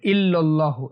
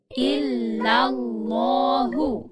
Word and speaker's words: ইল্লাল্লাহু: এখানে অনেকে ইল্লাল্লাহু বলে, ইল্লাল্লাহু এরকম বলে, এটা ভুল। সঠিক উচ্চারণ হচ্ছে ইল্লাল, ইল্লাল্লাহু। ইল্লাল্লাহু।